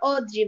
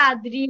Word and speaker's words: অদ্রি: অদ্রি স্যার, আমার right নেমটা অদ্রি, বাট ইংলিশে উচ্চারণটা আদ্রি হয়ে যায়।